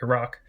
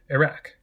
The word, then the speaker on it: Iraq: that more or less closely resemble how they're pronounced in their original languages like Iraq Iraq but this could be a result of other